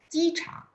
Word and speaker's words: 机场: Ya, jadi CHANG bacanya ada angin. 机场 ada 3 场. 机场 airport ya.